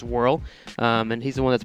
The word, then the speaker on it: WRL: It's created by WRL, pronounced Whirl, and he's the one that's put that in there, and he's really excited for it to be there as well.